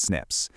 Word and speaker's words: SNP: We just call them snips, pronounced snips.